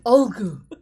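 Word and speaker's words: Ulgu: It's not oogity boogity. It's Olgu.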